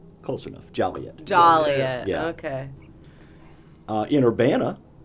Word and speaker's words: Joliet: In Joliet, it's illegal to pronounce Joliet like this. Juliet. Close enough. Joliet.